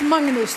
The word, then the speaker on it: Magnus: Welcome, and it's Magnus, I mispronounced it.